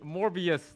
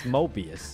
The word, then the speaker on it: Mobius: the underworld to summon morbius the frost Monarch oh no not morbius Morgan he's morbid he's morbin wait it's Mobius he pronounced it wrong she's gonna destroy her